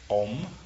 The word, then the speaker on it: Om: Well, could you pronounce the mantra again? Om.